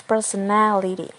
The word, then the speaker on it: personality: And then we add ality as a suffix, it becomes personality. The stress moves from per to ne.